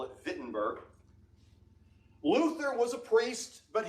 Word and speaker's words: Wittenberg: town of wittenberg now in german w is pronounced with a v when you see w when you speak in german you pronounce it v so we would call it wittenberg but they would call